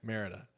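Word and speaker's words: Mérida: Speaking of the name, Tom, how do you properly pronounce that? Merida? Yeah, Merida.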